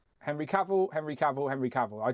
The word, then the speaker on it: Henry Cavill: It's Henry Cavill. Henry Cavill, Henry Cavill, Henry Cavill.